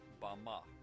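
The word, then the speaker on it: במה: Strong's Hebrew dictionary and it is pronounced Bama Bama is most commonly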